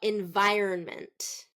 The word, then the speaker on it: environment: and that's not correct native speakers are going to reduce the middle syllable so environment environment see run is really reduced instead of Ron we're just saying run environment environment